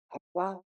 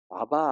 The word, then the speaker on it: 아빠: 그때 하나님을 아빠, 아버지라고 개정 성경이 나오기 전에 개혁 성경에는 아바 아버지라고 그렇게 되어 있었어요. 그런데 아람어의 발음이 아빠에 더 가깝대요.